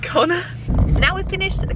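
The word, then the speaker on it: Connagh: in G-O-N-N-E-R, like it was like Connor, but pronounced Connor.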